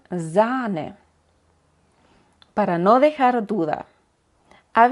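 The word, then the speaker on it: Zahn: por el otro lado cuando queremos señalizar que de verdad es largo se puede hacer agregando una H detrás de la vocal Como por ejemplo en faren o zane para no dejar duda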